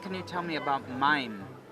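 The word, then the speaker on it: מים: What can you tell me about mayim?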